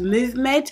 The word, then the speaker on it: MVMT: empty empty the subtle corny but it's actually pronounced movement and they are watching Brown and it's my